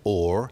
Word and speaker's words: whore: The pronunciation of whore as or. You'll notice two things about it. The H drops at the beginning.